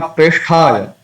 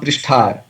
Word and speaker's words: Preshthaya: Then Krishna Preshthaya is not Prishthaya.